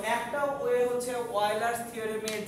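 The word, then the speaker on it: Euler: বানান দেখে মনে হয় উচ্চারণ করি ইউলার্স থিওরেম, এটা কি অয়েলার্স থিওরেম বলে।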